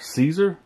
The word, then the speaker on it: CZUR: the name of it it's c z-u-r Caesar yes it's Caesar and there's a bunch